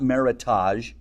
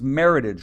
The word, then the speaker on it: Meritage: It's not meage. It's maritage rhymes with heritage.